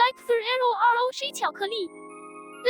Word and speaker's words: Rocher: In French, which the word Rocher comes from, the R at the end of words isn't really pronounced. It's more like a breathy H sound. So yeah, you could say it's silent when us English speakers say it.